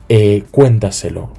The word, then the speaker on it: cuéntaselo: Cuéntaselo, lo mismo, cuéntaselo, ¿sí?